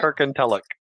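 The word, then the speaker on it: Kirkintilloch: Kirkentillach. Try that one, Jeremy. I'm glad you can pronounce Kirkentillach. I was like, Kirken what? Try it, go and say it. Kirkentillach.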